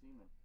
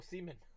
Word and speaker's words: Marcus Semien: Yeah, you said Semien. Oh, Semien.